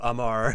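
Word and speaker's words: Amr: Amu? A-M-U? No, R. A-M-R. A-M-R. Amar? Yes. Yes, Amar. Yes, Amar. Okay, Amar. Okay, Professor Amar.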